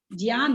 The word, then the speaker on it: ज्ञान: ज्ञान है शब्द, क्या है ये? ग य नहीं है मिला हुआ, य नहीं है, ज और ये इसमें मिला हुआ है, ज्ञान शब्द है।